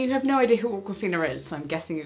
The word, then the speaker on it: Awkwafina: I said Awkwafina.